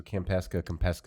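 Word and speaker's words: Kampeska: Okay, so Campesca.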